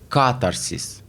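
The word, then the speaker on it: катарсис: شکل مختلف تلفظش میکنن بعضیا تکیه رو میذارن روی آی اول و بعضیا هم میذارن روی آ دوم ۸۰د من بررسی کردم که روی آ اول میذارن و میشه کاترسیس کاتارسیس اگر بذاریم روی آی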